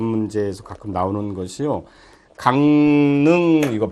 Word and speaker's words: 강릉: 발음이 강릉하고 릉으로 날 것 같은데요. 근데 이게 실질적으로는 강릉하고 니은으로 난다는 거죠.